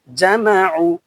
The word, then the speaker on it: جمع: আইন পেশ উ, আইনটা একটু উচ্চারণ করতে হবে কঠিন ভাবে, সহজ করে নেবেন। উ, উ বললে হবে না, উ। আইন পেশ উ, জামাউ, জামাউ, জামাউ, জামাউ, জামাউ।